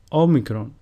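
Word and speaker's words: Όμικρον: Omicron, which is pronounced O, and a sample word is omeleta, which means omelette.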